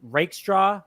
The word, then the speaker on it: Rakestraw: Like both guys, I think Rakestraw is how you say it.